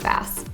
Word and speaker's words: Vass: Is it Voss? It's Vass.